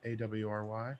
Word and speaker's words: awry: I was just how do you pronounce it? Awry? AWRY?